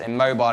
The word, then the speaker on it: Immobile: Coincidentally, our nickname for Patrick, but pronounced immobile in that case.